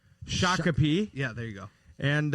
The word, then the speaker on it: Shakopee: yeah get down to chicopee is that how you say it no shakopee yeah there you go